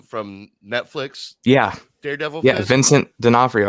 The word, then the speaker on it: Vincent D'Onofrio: netflix yeah daredevil yeah vincent d'onofrio i think is how you pronounce his name he's rumored to be